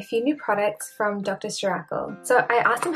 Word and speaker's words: Ceuracle: talking about a few new products from Dr shakle so I asked them how to pronounce it and they said shle so I'm trying my best of this one I think I used to call them Dr sakal um but I was like I'm super unsure